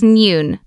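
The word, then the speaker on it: 니은: The second one is nyun. Nyun sounds similar to the English N.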